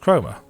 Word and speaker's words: Chroma: It's pronounced chroma.